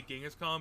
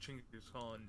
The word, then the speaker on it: Chinggis Khan: Apparently, it's like we all say Genghis Khan, but it's pronounced Chinggis Khan.